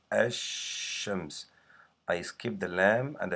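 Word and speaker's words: الشمس: name from the world actions we do not pronounce the lamb here I say as shams I skip the lamb and I go right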